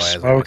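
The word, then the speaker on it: Smough: I like smoke as it rhymes with dough, and I imagine he eats that.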